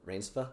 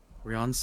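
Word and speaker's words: Reinsve: Um, how do you say Jonathan? Rainspa. Renate. Riance. Riance.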